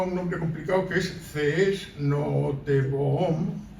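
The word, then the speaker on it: Cees Nooteboom: nombre complicado que es cees nobom aunque ya sé que se pronuncia qu es not poeta novelista e hispanista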